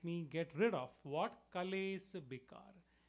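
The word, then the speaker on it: क्लेश: Kalesa Bikar. Kalesa, in Sanskrit we would pronounce it as klesha.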